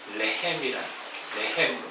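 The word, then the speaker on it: לחם: 히브리 언어는 빵이 이제 레헴으로 발음됩니다.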